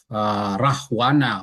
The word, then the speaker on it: Rahwana: In Indonesia, we use W.